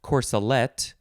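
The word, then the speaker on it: corselette: how it's all related okay number two is pronounced corsalette and it could also be spelled with an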